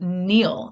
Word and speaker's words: kneel: knees that is called kneel that is the verb right Neal has a silent K and the part of